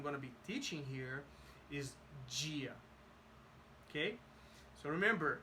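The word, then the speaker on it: Bom dia: Gia okay so remember if there's a knee a d and an i is going to be G if if it's there's a d and an e and if it's not accented is also G I'm gonna explain that better later but right now let's just focus on bone Gia bone Gia boom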